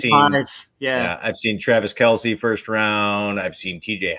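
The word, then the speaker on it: Kelce: a lot of times yeah i've seen travis kelsey first round i've seen tj hawkinson second round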